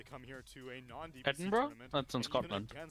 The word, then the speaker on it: Edinburgh: here to a new edinburgh scotland eden edenberg yeah that's edinburgh what the yeah it's pronounced edinburgh and i'm curious how